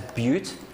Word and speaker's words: but: Now that's quite a confusing one because there's no E, but I am going to pronounce this as bute.